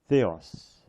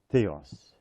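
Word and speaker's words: Θεός: it is an S so the word is Theos Theos so so far it says H Theos coming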